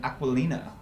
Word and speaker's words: Aquilina: Today we have Lauren Aquilina with us. Nailed it. The pronunciation.